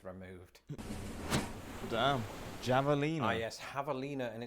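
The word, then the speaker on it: javelina: damn javalina a yes Havalina and it's very important Havalina should I say my bad you do pronounce it the Spanish way lest you confuse it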